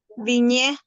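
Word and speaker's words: vigne: Viñé. Viña, ¿sí? Como no tiene acento la E final, no la pronunciamos, ¿sí?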